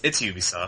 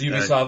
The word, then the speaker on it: Ubisoft: Yeah, because they think it's like, it's German, but no, it's French, so.